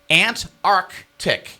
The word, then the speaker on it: Antarctic: You don't who says and it technically is supposed to be Antarctic.